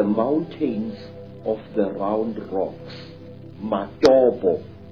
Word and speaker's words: Matobo: And one of these parts of Africa, sir, is a remarkable place called the mountains of the round rocks, Matobo, wrongly pronounced Matopo in Zimbabwe.